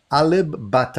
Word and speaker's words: Alip Ba Ta: popular his name is alib bata i hope i'm pronouncing that properly is that let me just verify that i think it is pronounced alip a lip with a p butter and i have no